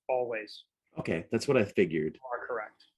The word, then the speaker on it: Alvvays: want to check quick it is pretty uh pronounced always okay that's what i